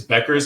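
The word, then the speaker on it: Bueckers: think she's just Becker I think it's Becker's and I always want to say buer because of Rick buer but it's I'm pretty sure it's Beckers but it's spelled with a u instead of just to eat all right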